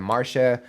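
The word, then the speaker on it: Marsya: And I also learned how to pronounce everyone's names and what they typically go by. So we have Marsha, Wedi, and City.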